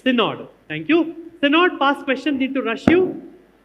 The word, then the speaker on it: Synod: I'm pronouncing that correctly. It is Synod, right? It's Synod.